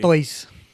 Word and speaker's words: Artois: We are drinking Stella Artois. Okay. I don't even know if that's how you say it correctly. Artois.